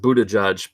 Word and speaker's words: Buttigieg: mayoral president presidential candidate candidate pronounced Buddha judge but whatever it's kind